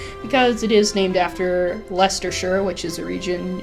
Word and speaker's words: Leicester: Empire the holy kingdom of Fargas or the laced ster alliance or I guess Leicester alliance is the correct pronunciation there because it is named after Leicester sure which is a region in the United